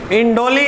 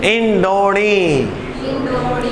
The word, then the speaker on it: इंडोनी: इंडोली नहीं, इंडोनी।